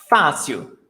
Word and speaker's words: fácil: Fácil. The stressed syllable is before last.